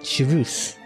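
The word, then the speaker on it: Chevreuse: or four star but shus yes I learn how to pronounce her name a little hint thinking of it as pronouncing chus anyway before the stand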